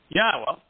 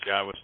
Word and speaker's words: Yahowah: For those who are the first-time listeners, Yahowah's name is exceedingly easy to pronounce. It's comprised of four vowels, one of which is repeated, Yod, Hey, Wah, Hey. The Y is pronounced like the Y in English.